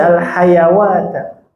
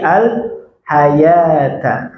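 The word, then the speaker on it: الحياة: Nah, maka jangan dibaca al-hayawata, tapi al-hayata.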